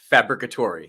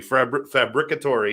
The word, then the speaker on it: Fabbricatore: that would be impossible does anybody get it right right off the bat uh the other Italian your occasional Italian or or uh Spanish people might say it right from time to time oh really yeah yeah